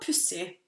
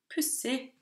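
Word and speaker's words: pussig: The G there is silent. So, det var pussy. That's odd. Pussy.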